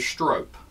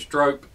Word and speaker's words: strop: Some people pronounce it strope. Okay, so if you're from the north, you pronounce it strope.